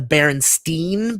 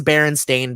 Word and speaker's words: Berenstain: of us remember that they were called the berenstein bears not the berenstain bears but if you look it is berenstain bears and it's like okay so maybe we were just always not pronouncing it correctly uh but but falling